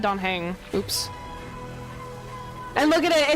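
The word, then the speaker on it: Dan Heng: I've been saying it wrong all this time. Don Hong? I said Don Hang.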